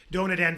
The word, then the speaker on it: DonutNV: So just so people understand, the way it's spelled is the word donut, D-O-N-U-T, and then immediately the capital letters N and V. So it looks like Nevada. It's nothing to do with Nevada. It's very simply just a play on words. So the word envy, E-N-V-Y, but it's DonutNV is how it's said, and it's spelled D-O-N-U-T, envy.